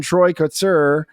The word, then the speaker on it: Troy Kotsur: But and then Troy Kotsur, I believe that's how you pronounce his name, picked up the Oscar for